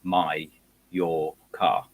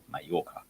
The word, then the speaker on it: Mallorca: big signs saying how it's pronounced saying it's pronounced my your car my Yorker so for some reason we just sort of